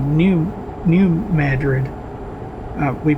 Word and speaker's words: New Madrid: a place called New New Madrid. Uh we pronounce that Madrid. New Madrid, not Madrid. It is named after the city in Spain, but we pronounce it differently.